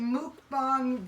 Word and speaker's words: mukbang: But Jessica told me, and thank you very much, mukbang.